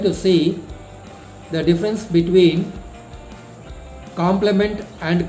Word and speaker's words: complement: see the difference between complement and complement. Both the words are pronounced as the same, but if you look at the spelling, there is just a letter is changed. One complement is COMPLEMENT.